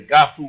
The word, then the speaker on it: GAHFU: Request to be our friend, Garifuna Language and Culture Academy, under Gafu Garifuna. Gafu is spelled G-A-H-F-U.